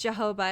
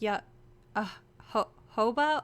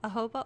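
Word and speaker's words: jojoba: for um it's called it's not pronounced Jehovah. It's called like ya ho hoba oil. Ahoba oil. I don't I don't know how it's pronounced, but I call it Jehovah oil, but it has a J. So, I think the J is like an H or something.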